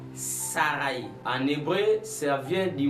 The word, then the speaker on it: Saraï: C'est-à-dire, on ne va plus prononcer ch, mais on va prononcer s. Donc, au lieu de dire Sharaï, on va dire Saraï.